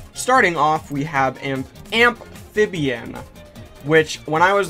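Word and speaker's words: Ampfibian: off we have an amphibian which when i was like saving the image i was like oh it's actually pronounced amphibian like amp is in electricity and i always thought it was amphibian like the water type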